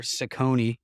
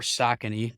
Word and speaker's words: Saucony: these are Saucony or Saucony, depending on how you say it.